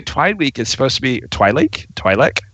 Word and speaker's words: Twi'lek: Like, I get not every Twi'lek is supposed to be Twi'lek. How do you pronounce it?